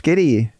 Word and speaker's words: Gitty: Welcome to another episode of songs you know and I have a very very special guest today Giddy. Do I say that right? Giddy.